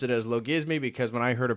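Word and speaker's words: logismoi: audience correct me that it is in fact low gizmi despite the oi ending uh due to the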